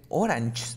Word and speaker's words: oranges: Un error común es decir que es oranges, no oranges. Oranges, okay? Ahora, trucazo. Todas las palabras que terminen en estos sonidos va a ser EZ, la pronunciación al final.